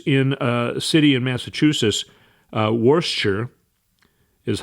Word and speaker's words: Worcester: and it was in a city in Massachusetts, Worcester is how it's pronounced, actually. It looks like Worcester, but everyone pronounces it Worcester, Massachusetts.